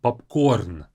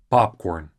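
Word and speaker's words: попкорн: is of course popcorn in Russian the stress is on the last syllable popcorn in English it's popcorn a bit of a difference there is seafood really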